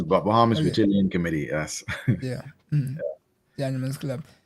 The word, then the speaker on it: Beautillion: That's how you pronounce it, right? Beautillion? Yeah, it's Bahamas Beautillion Committee, yes.